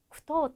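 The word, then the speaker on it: 句読: 생각하시는 분이 계실 텐데 읽을 독일 때는 물론 도라고 읽지만 예 그 구절 두 자가 있거든요 요거를 두 가지로 읽어요 그때는 토라고 읽는데 사실 JLPT 단어 안에서는이 토라고 읽는 경우가이 단어밖에 없어요 쿠토 땡 이럴 때는 토라고 읽어요 그래서 아주 특이하기 때문에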